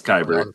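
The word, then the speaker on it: Keibert: keeper kyber um and can somebody tell me how to pronounce this goddamn name because I say it wrong I believe it's kyber um okay kyber Ruiz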